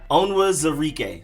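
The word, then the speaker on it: Onwuzurike: then next up you have defensive lineman levi onwards enrique levi onwards eureka onwards enrique levi owens enrique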